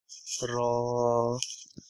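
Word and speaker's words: ر: is this one is raw raw raw is a sound of r or for rabbit but it is a little heavier sound raw raw the next one is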